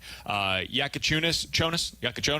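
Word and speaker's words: Jakučionis: Yakachonis? Yeah. That's how I pronounce it.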